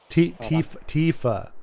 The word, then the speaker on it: Tifa: Tifa just died. Wait, what? That's not supposed to happen. Oh, Tiff just died. Yeah. Tifa. It's like with It's like teeth but with a f.